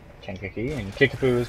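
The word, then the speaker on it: Kankakee: Kinkakee is pronounced Kinkakee, and Kickapoo is pronounced Kickapoo.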